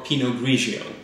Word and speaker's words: Pinot Grigio: but they're actually not they are the same variety just different pronunciations of it pinot gris is the French pronunciation in a ratio of the Italian pronunciation he knows that the